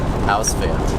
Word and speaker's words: Ausfahrt: How do you pronounce it? Ausfahrt.